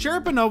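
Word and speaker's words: Cherepanov: hockey history number six death of alexi sheriff pronounced sharaponov was playing for the khl's and the guard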